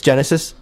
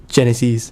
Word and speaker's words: Genisys: People, people are like, it's Genesis, but it's pronounced Genisys.